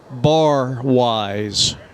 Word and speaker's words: Barwise: to cam bar wise what a name cam bar wise it's spelled the way it sounds b-a-r-w-i-s-e two on first